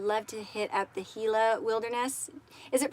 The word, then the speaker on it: Gila: Then I pronounced it right the first time. I'm from Southern California, so I know kind of that how you pronounce the J's and the G's at times because we are so close to Mexico.